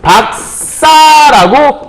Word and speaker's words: 박사: 그래서 요 발음은 요게 파열음이기 때문에 뒤에 소리를 빵 터뜨려서 발음을 박사라고 요 시옷을 쌍시옷을 이렇게 발음하는 걸 얘기하는 건데 언제 이런 발음이 나타나냐?